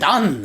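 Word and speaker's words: Titán: I should pronounce it correctly because everybody... Titan!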